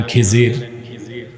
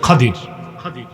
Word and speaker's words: খাদির: নেককার বান্দা তার নাম খাদির যারে আপনারা বলেন খিজির উচ্চারণটা কিরখাদর আমাদের দেশের লোক বলে কি খিজির এটা ভুল উচ্চারণ শুদ্ধ উচ্চারণ কি খাদির তো মুসা নবী বলছেন